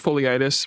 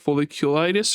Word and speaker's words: folliculitis: So I keep pronouncing it as foliitis because my mouth doesn't want to work, but it's like folliculitis or something like that.